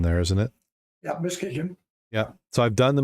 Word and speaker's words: Muskegon: and you hit the Muskegon first.